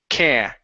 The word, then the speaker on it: can't: Now let's hide the t. Can't dance. Can't. Yeah. Can't dance. Uhhuh. Can't dance. Yeah. So, it's almost uh can't can't dance.